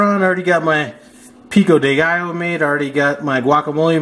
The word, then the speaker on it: Pico de Gallo: I already got this guacamole and some Pico De Gallo. Or Pico De Gallo, if you happen to want to be saying it correctly.